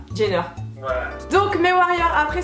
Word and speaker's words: Jenner: Kylie jiner c'est çaer le j en anglais ça se prononce un peu comme un G kyliener jner voilà donc mes Warriors